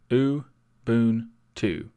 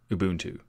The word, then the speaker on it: Ubuntu: today's episode Lubuntu lubuntu ooh boon to Ubuntu Ubuntu is a goonie